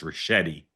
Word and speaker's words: Ricchetti: Okay, I will politely and gently tell you his name is pronounced Ricchetti. Oh, okay. Soft.